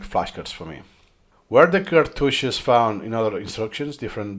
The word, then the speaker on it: cartouche: Yeah, cartouche.